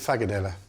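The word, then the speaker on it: frikadelle: So, in Danish, they pronounce it Fagadella.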